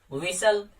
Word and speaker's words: विसल: विसल, तो यहाँ पे भी एल ई आया तो हमने टी को साइलेंट कर दिया।